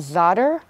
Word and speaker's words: za'atar: It's called za'atar. Have you tried za'atar? I know, I've heard different pronunciations. How do you pronounce it? Za'atar. Okay, za'atar, thank you.